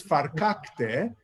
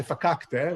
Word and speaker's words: verkackte: So the real word, the correct pronunciation is verkackte. In English, often people say verkackte, right? So a lot of the R's get dropped, especially people from the Northeast drop their R's.